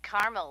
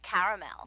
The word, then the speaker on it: caramel: what I said Tina actually you said Carmel when it's pronounced caramel can't we just call